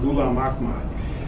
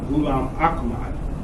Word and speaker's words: Ghulam Ahmad: But the name Ghulam Muhammad is pronounced phonetically identical to the name Ghulam Ahmad. It's the same sound, it's the same syllables, it's the same vowels.